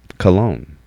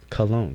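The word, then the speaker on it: kalon: of the day is cologne not like cologne that you spray but cologne k-a-l-o-n beauty that is more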